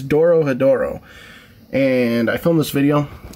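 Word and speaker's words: Dorohedoro: it wrong doro hedoro i spelled it wrong in the title that's why i'm saying it wrong it's doro hedoro and i filmed this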